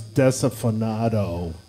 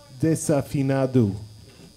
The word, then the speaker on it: Desafinado: Everyone pronounces this Desafinado, but that's not correct. It's Desafinado.